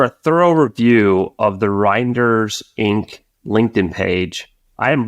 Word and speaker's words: Reinders: Actually, help me with the pronunciation here. Reinders, Reinders, yes.